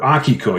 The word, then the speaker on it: Akiko: And I came up with this story called Akiko on the Planet Smoo, or Akiko, you will hear me say sometimes, the Japanese pronunciation.